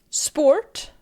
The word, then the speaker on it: sport: Sport pronounced like spot.